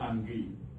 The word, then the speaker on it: Ange: And this is our traditional color, the zebra color, and it is called Ange. It is spelled exactly the way you spelled anger.